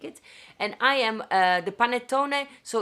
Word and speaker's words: panettone: is el panetto and i also found ayu pronounces panettone that's how you pronounce and if you translate